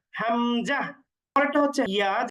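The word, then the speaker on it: همزة: হা এর পরেরটা হচ্ছে হামজাহ হামজাহ হামজা উচ্চারণ করতে আমরা কোন টান দিব না হামজাহ পরেরটা হচ্ছে ইয়া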